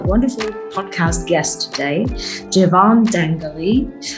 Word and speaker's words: Dangeli: today javon dangali dangly i'm sorry no g no g remember i really i tried to do it good in the beginning but he said it's okay if i don't pronounce it what's the worst butchering uh german the worst butchering of my name would be the one i grew up with dangerly i grew up in